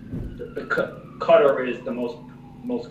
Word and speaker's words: Qatar: a variety of different ways and it's the cutter is the most most correct way to pronouncing and so what we saw just the